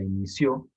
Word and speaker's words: inició: Entonces, si ustedes revisan eso, ustedes deberían saber que la palabra inició es una palabra aguda. Lo voy a marcar acá. Tiene el acento en la última sílaba, en ció.